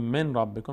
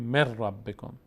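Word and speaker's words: مِن رَبِّكُمْ: مثلا من ربکم، به جای که بگیم من ربکم میگیم مر ربکم، چون اینجور تلفظ ساده تره.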